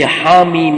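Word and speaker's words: حم: பிழையான உச்சரிப்பு ஹா மீம் இங்க நாங்க மீமைத்தான் ஆறு ஹரக்கத்து நீட்டுவோம் ஹாவை ரெண்டு ஹரக்கத்துகள் மட்டும்தான் நீட்டுவோம் எனவே இரண்டு ஹரக்கத்துகளை விட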